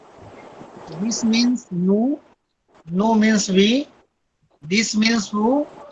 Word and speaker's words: nous: नो, we pronounce no, NOUS. no. Basically, in French, generally some words we write but we cannot pronounce. Got it? In French, last letter generally we cannot pronounce. For the example, this word is ending with S, but S we cannot pronounce. We will pronounce no.